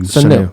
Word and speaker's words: Sanu: Sanu.